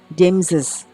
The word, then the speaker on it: James's: Well, pokoknya kalau terakhirnya huruf s, mau itu hewan atau nama orang, pakainya yang kayak gini ya, dan dibacanya jadi z, ya, James's, ya, ya, jadi z, ya.